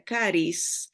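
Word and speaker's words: χάρις: griega que se pronuncia caris se escribe charis pero no sé la ch no la pronuncian así en el griego se pronuncia como con k caris eh la gracia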